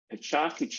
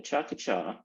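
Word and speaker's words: Pecha Kucha: I do have a chocolate just learned that that's the proper way to say it the chocolate um AKA pechakuchia which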